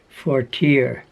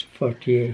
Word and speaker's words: Fortier: By the way, that Christina, I would say if it had an American pronunciation, be Fortier. But it's a nice typical French word, so I says Fortier. Fortier, and that's probably how she says it.